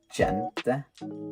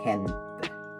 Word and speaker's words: gente: Also, G is also pronounced different. So, for example, in Spanish word for people, gente, you pronounce that in a different way. You don't pronounce gente, you pronounce gente.